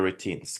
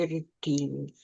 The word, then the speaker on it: routine: So you see yeah we have um emphasis on the second part routine.